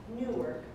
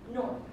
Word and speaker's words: Newark: I'm from Newark. No, not Newark. Newark. Rhymes with stork.